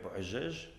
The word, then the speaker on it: Bouhadjadj: Mon nom est Bouajej, qui, prononcé en français, se dit bois de jade, mais qui signifie surtout le fils de la poussière.